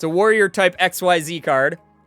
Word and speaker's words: XYZ: It's a warrior type XYZ card. Or Zizzy, as some people say. Or Ziz or whatever. People say that so strange. I've heard it pronounced so many different ways.